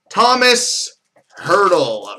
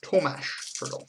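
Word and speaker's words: Tomáš Hertl: Thomas Hurdle. Rookie jersey autograph number to 199 for the San Jose Sharks. Or Tomash Hurdle. If you want to pronounce it correctly. So that's acceptable. Youth Explosion Auto for the Carolina Hurricanes, Zach Kelpe.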